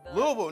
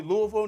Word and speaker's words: Louisville: Louisville. Now, everybody says the name wrong, but it's actually Louisville, not Louisville.